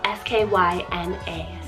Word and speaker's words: Skyna: Then I have Skyna, spelled S-K-Y-N-A, Skyna.